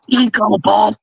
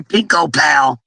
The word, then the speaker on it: Pink Opal: Mama G had me calling you Pinko Pal. Pinko Pal. She thought it said Pinko Pal, and it actually says Pink Opal. So I'm going to say it right.